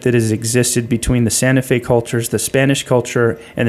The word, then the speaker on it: Santa Fe: Santa Fe. That's a correct way to say Santa Fe.